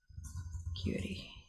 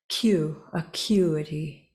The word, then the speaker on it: acuity: It's not really fair, but how do you acuity? That doesn't help. The first syllable sounds like All right, about, okay. Acuity. The third syllable is pronounced like itty.